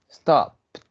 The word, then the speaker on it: stopped: Stopped, stopped, como cuando decimos cat, stopped.